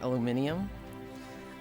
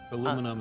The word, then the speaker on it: aluminum: I don't know if I say aluminum or aluminium. I say aluminum. Um, Pidgeot and Pidgeot is another one. The the Pokemon aluminum is the right way to say it.